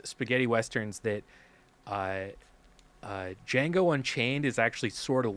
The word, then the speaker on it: Django: name or something and jamie foxx goes django and then he goes the d is silent and then he says